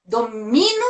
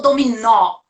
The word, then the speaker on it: dominó: Você fala domino ou dominó? Ai, dominó, nó é a sílaba.